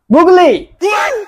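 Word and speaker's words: Google: জি ও ও জি এল ই গুগলি। স্যার হইছে না বলেন? আরে বোকা, এটা গুগলি না, এটার উচ্চারণ হবে গুগল।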